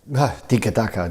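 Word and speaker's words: tiki-taka: phrase come from and uh how do you pronounce it properly tikka ducker that's something like this that's how he puts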